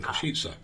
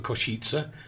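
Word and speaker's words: Košice: So it's Pride and then Kosice for Kosice, not the way he said it, Kosice.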